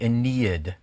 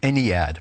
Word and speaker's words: Ennead: The 9 gods, this is the Aeneid of the Egyptians, a Greek word used to describe them, or the Ennead, pronounced differently.